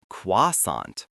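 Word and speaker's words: croissant: you'll hear most often, the T is still silent and the final sound is a soft on or on. The word is pronounced quasant. The first syllable is a quick qua. Quasant.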